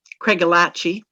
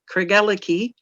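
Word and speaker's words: Craigellachie: day she said that this place name was pronounced craig alachi which is not how i'd ever heard it pronounced and so i went online and i actually found canadians and scots pronouncing it cregelicky which is how i had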